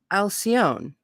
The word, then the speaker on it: Alcyone: I don't know how to say it, Al Alcyone, Alcyone, called the central sun of our universe.